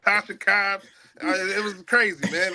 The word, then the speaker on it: Tasha Cobbs: My man was mispronouncing words, giving awards to Tisha Cobbs, not Tasha Cobbs.